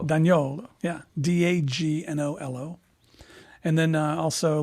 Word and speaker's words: D'Agnolo: and also myself I'm on Instagram at Otto Don YOLO spelled the way my name is spelled you finally said it Don YOLO daniolo yeah d-a-g-n-o-l-o and then also let's see on